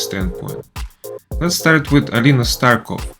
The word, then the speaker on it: Starkova: Let's start with Alina Starkova. In Russia, there is a difference between masculine and feminine last names, so the correct way to say her last name would be Starkova.